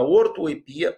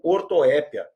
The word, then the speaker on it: ortoepia: E a cacoepia é o nome do vício, e ela se situa no campo da ortoepia ou ortoépia, mais um caso de palavra de dupla prosódia ou pronúncia optativa.